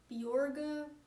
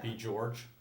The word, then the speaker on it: Bjorge: like Norwegian is it it's supposed to be pronounced um borga but it's too hard for getting Americans to say Bor I'm thinking be George oh yeah that I've heard that one a lot or think